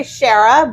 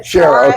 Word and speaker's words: Sciarra: This is Mayor Shara. Is that right? That's very I say Sherah, but Shara is also about as close as you can get.